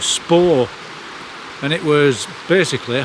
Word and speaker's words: Spa: you about a famous spa near here that people used to come to. And locally it's pronounced spa, s p a w.